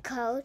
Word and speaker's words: code: It ends in a silent E and has a long vowel sound. I'm coding. Oh. The silent E makes the vowel say its name. Cod.